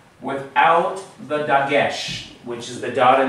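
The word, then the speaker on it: דגש: this letter, I'm going to erase the way it's spelled in Hebrew, this letter, without the dagesh, which is the dot in the center.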